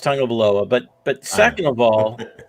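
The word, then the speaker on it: Tagovailoa: or 12 they're look first of all it's pronounced tango below but but second of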